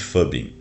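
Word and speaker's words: phubbing: Um fenômeno chamado de fubing, que se escreve phu bb i n g. Mas eu eu procurei aqui no Google como é que pronuncia esse troço e a resposta foi aproximadamente fubing por aí, que significa ignorar alguém em prol do smartphone.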